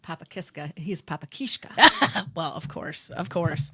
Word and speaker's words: Kiszka: Is it Kiska? Kishka. Kiska is just the regular American pronunciation. Okay. Um, Kishka is You'll heard Polish people say Kishka. Kishka. What do you prefer? It's just Kishka to me.